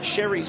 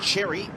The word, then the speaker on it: Sherry: yes so uh tristan sherry's mum came across and just let us know that it's actually sherry not cherry every one of the